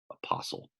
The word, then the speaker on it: apostle: post apocalyptic all right an apostle that T is almost silent apostle apostle okay so what do